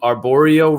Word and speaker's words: arborio: but someone had asked, are we cooking with arborio rice? Is that correct? Is that the correct pronunciation?